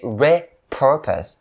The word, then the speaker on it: repurpose: to be repurposed and the second point is upon the second syllable so purpose and the point that i'm trying to make here is that you have to make the r sound in the second syllable very clear otherwise it's gonna sound really weird in the ear of native speakers so don't say re-purpose